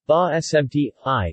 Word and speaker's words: basmati: basmati pronounced IPA bah SMT hi in the Indian subcontinent